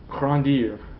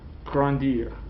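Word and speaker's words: grandir: around here and here you actually make sure you pronounce the r in the infinite Grande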